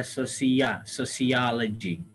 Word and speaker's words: sociology: Sosio itu dibaca ya sociology. Sosiologi. Ya, sociology. Pertama dibaca A, kedua dibaca E.